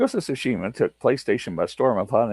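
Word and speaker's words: Tsushima: your name ghost to sushima I hope I pronounced that right I think I did because it the T silent one of roots yeah g sushima took PlayStation by storm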